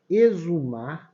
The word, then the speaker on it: exumar: um som de z exumar tem um som de z e exonerar tem o